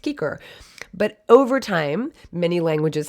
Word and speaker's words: cicer: that's why i'm saying kiker would have been this would have been pronounced kiker but over time many